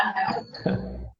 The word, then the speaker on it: half: Gente, eu vou confessar que eu falei anos e anos errado. Falava half, até chegar aqui e ser corrigida para half. Então, a gente acaba aprendendo como está escrito e tem um L lá no meio, tem um A, aí tu fala half, né?